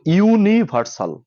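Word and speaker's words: universal: হয় তাহলে এন বসে তো ইউনিভার্সাল ইউ এর মত উচ্চারণ হওয়ার কারণে এ বসেছে আচ্ছা অর্পিতা পাল দুই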